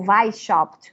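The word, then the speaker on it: Weishaupt: padrão gerado por por Adam V shopt ou V shopt em alemão melhor em primeo de maio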